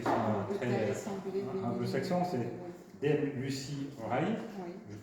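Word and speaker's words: Lucie Rie: Alors, d'autres qui sont moins connus parce qu'ils sont très anglo-saxons, c'est Dame Lucy Ray, je prononce bien?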